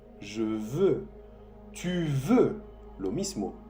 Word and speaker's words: veux: Je veux. Je veux con un X. Je veux. Tu veux. Lo mismo. Tu veux con un X que no se pronuncia.